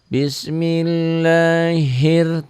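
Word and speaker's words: بسم الله الر: Bismillahir tuh hir jangan hil ya. Alif lamnya ada tapi tidak dibaca.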